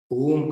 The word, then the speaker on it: ओम: रखें ध्यान का अभ्यास ओम का उच्चारण एक अनुपात एक ओम अ प्लस उ दोनों मिलकर ओ संधि है और तीसरा म जब हम अ का